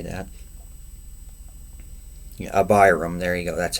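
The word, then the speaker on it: Abiram: And Moses sent to call Dayan and Ibraham. Abraham, however you say that. Abram, there you go.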